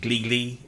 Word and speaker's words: GLI: And a lot of people have been telling me to get the how do you pronounce it? Gli, GLI.